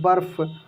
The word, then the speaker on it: बर्फ: सब कुछ सीखने लगेंगे तो जैसे इसको पढ़ेंगे हम लोग बर्फ क्या पढ़ेंगे बर्फ और यहां पर देखिए